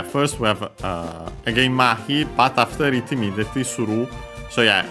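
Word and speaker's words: 麻痺: can take next uh mahi which is uh a compound uh technically a Chinese a Chinese compound should be yes accent on the first uh syllable.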